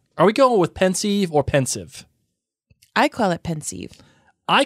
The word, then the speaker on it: Pensieve: IE supposed to sound it's supposed to be e but the the the fact of the matter is uh is that pensive or pensive is a play on pensive the feeling and then sieve which is the thing that allows you know it allows a flow of whatever is coming out of it right so it's a it's a it's a combination of two words so is it a